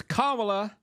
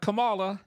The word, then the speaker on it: Kamala: It's Kamala, not Kamala.